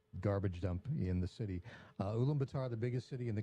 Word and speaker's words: Ulaanbaatar: It's Ulaanbaatar, I think is how you say it, in Mongolia.